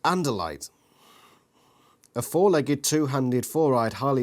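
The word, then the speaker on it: Andalite: too it gives pronunciations and light pronounced anderlite a four-legged two-handed four-eyed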